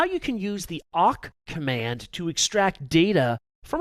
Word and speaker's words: awk: In this video, I'll demonstrate how you can use the awk command to extract data from a file or from the output of another command.